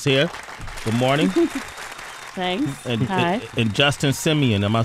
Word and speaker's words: Justin Simien: Tessa Thompson is here good morning thanks and Justin Simeon am I pronouncing that correct that's correct director of the